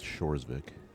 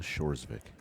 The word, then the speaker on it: Hjorsvik: corset vic and now the k k is silent with shores vic lina shores vic i had to get